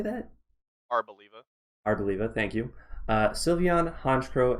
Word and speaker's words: Arboliva: Arboliva.